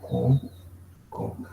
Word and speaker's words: cóncavo: Es un espejo cóncavo. Con acento en la O.